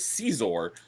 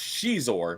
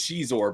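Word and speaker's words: Xizor: for decades that the antagonist of that was caor and I found out just recently it's actually pronounced Shor which I don't like that PR pronunciation I like cizor better but it is Shor but he was he was uh cool in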